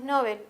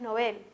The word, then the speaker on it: novel: en realidad superfluo o de repente en novel pronunciamos muchas veces nobel y es novel entonces hay que reconocer